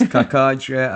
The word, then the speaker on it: Cacace: Liberatore Cacace. Cacace. Is it Cacace? Is it Chachache? Casace. Yeah. Sasase. It's Cacace.